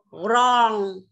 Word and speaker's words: wrong: Nào, từ này không đọc là oan đâu nhá. Wrong, wrong, wrong.